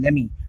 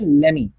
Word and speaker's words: lemme: So guys second जो contraction है आपके लिए वो है लेमी। बहुत ज्यादा यूज होता है और बहुत ही इंटरेस्टिंग है, सुनने में बहुत अच्छा लगता है। प्रोनाउंसिएशन पे ध्यान दीजिए, इसको हम बोलते हैं लेमी, ठीक है।